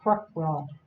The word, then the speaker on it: Krokbragd: you know how to spell it when it's pronounced quick world and it is a Swedish technique and it